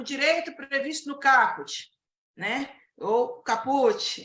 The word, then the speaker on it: caput: Tem muita gente que fala caput, a pronúncia correta é caput.